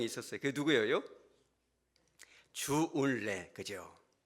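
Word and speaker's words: 周恩来: 주울레, 그죠? 주울레인데 이분이 저월라이라고도 발음합니다만은 사실 주울레는 1800년도 말에 귀족 가문에서 태어납니다.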